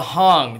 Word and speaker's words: hang: in Switzerland and it's called the Hong they spell it like h-a-n-g like like you're hanging out right it hang people make a lot